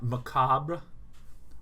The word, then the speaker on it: macabre: Macabre. Macabre. Or more often, just macabre. You don't even hit the R, you just get macabre.